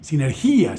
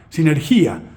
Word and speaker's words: sinergía: del griego antiguo sinergia el acento está en en la i sinergía sinergía si se aventuran